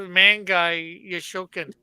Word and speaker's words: Mangai Yoshokan: No, that was the ManGai YoShoKan. Did I pronounce that right?